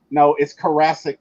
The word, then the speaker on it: Karasik: So it's Karasik like Jurassic.